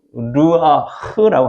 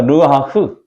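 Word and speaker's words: רוּחַ: 하나님께서 마른 뼈들에게 불어넣으신 생기는 히브리어로 르아흐라고 합니다. 해 볼까요? 르아흐. 르아흐. 그래서 흐 발음을 이렇게 가래 그것이 르아 이렇게 하라고 옛날에 교수님이 가르쳐주도록 해 볼까요?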